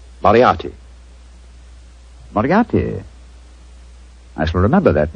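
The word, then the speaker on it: Moriarty: Moriati.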